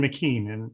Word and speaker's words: McKean: my presentation i'll say mckeon said this um i i'm sorry pronouncing it right mckean is how you pronounce it right i i should have